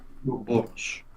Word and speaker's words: Ouroboros: I always pronounce it as Ouroboros. I've always heard it Ouroboros. Yes, the correct is Ouroboros.